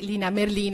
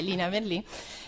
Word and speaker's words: Merlin: E mi fa anche molto piacere che Lina Merlin, ecco, devo correggere la pronuncia veneta, insomma in realtà è Lina Merlin, sia ricordata nell'ambito di questo incontro appunto dedicato alla figura di Elena Marinucci.